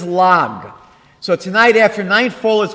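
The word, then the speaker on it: ל״ג: In Hebrew, the way we'd express 33 is with the letters Lamed and Gimel. And we pronounce that as Lag.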